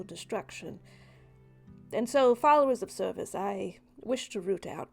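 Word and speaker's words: Cervus: but sure well the the name is spelled differently c e r v u s Service um service the blackstack so if you're a follower of I thought you've been saying cervix this whole time that's great oh hey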